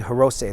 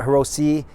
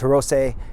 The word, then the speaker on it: Hirose: last name is indeed hirose there's no it's not Hiroshi it's not Heros it's hirose as SE in Japanese is pronounced say so Akito hirose he